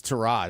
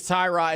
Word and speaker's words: Tyrod: It's Trod actually. Damn it. I got to apologize for that. We all thought it was Tyrod and Tyrod rhymes with Ty God.